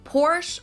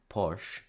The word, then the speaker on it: Porsche: I think the more interesting thing here is why we lose the schwa, the sound from the end. Why do we say Porsche and not Porsche?